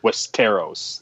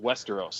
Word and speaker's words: Westeros: video yeah but it's pronounced Westeros like I'm the show dude